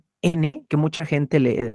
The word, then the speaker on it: Samhain: sabrosón y por oposición, el Samhain o el Samhain, que es la pronunciación correcta, era la noche, era